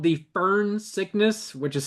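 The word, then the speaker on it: Foehn: Uh, so it's a real thing called the fern sickness, which is spelled f o e h, the fern fern sickness or the fern wind, which causes the fern sickness.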